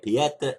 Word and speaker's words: Pieta: sounds almost like Peter but it's p ta Peta is free those who listen to my conversation